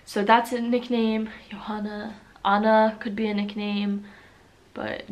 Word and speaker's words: Anna: Allah is a pretty common name but it's Anna it's not Anna it's Anna and on Elena that's